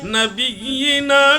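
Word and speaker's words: نبيّنا: আল্লাহুম্মা সাল্লি আলা সাইয়্যিদিনা মুহাম্মদ নাবিয়ানা শাফিঈ। মানা দানা ভাইজান এনে ভুল হইতেছে, নাবিয়ানা এমনি না, এই এমনি উচ্চারণ হবে না, নাবিয়িনা নুনের উপরে টান হবে না।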